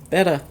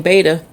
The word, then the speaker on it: betta: Betta. I keep saying beta. I grew up saying beta. It's actually pronounced betta.